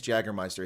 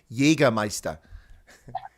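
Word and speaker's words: Jägermeister: pronunciation so i'm going to fix your german pronunciations notice this thing is jaggermeister it's jagermeister yeah we got we got a lot of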